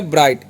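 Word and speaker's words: bright: और यहां पर टी जी एच है ना ये दोनों साइलेंट होता है। ठीक है? और टी से ट हो गया ब्राइट।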